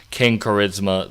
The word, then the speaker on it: KXNG Charisma: If you want to look this up, it's spelled KXNG Charisma. King Charisma.